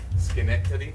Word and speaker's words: Schenectady: The CH is the still the gut sound, right? Yeah. Schenectady.